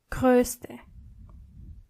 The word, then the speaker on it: größte: adjective, you have to change O into O umlaut. So it's groß, but größer and größte. Try to practice the pronunciation. Groß, größer, größte.